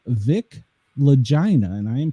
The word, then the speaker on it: Lagina: And the author of the book is called Vic Lagina. And I am pronouncing it correctly there.